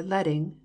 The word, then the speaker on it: leading: page line spacing or leading rhymes with sledding refers to the amount